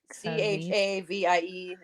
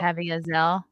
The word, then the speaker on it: Caviezel: Jim Chaviezel. Oh, Caviezel. Caviezel, yeah.